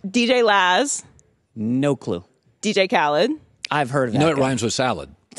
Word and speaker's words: Khaled: DJ Khaled. I've heard of that. You know it rhymes with salad.